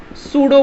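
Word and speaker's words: pseudo: सूडो बोलो, स्यूडो बोलो, आपको जो पसंद है वो बोलो।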